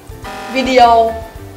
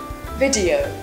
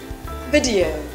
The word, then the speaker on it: video: Video. Right. So it should be video. Video. Many of you pronounce this word as video, but that's wrong. So the correct pronunciation of it is video.